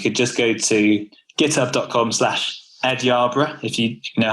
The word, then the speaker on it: Yerburgh: Like it's YER, but you pronounce it Yar. But I don't know any other word that I can compare that to. Like the final part of it's borough, and I can say, like Edinburgh. It's a similar sound, right? It's spelled the same way. I can't think of a single word where the ER makes an R sound.